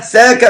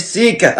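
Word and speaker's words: Saka: الفني والكابتن فارس عوض ساكا ها ساكا مش سيكا انا عملت الموسم ده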